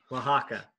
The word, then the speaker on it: Oaxaca: So Oaxaca is 3 syllables. Oaxaca. Or Oaxaca.